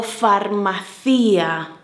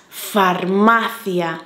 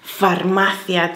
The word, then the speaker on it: farmacia: cuidado queridos amigos italianos en castellano en español es farmacia es llana graben vamos con la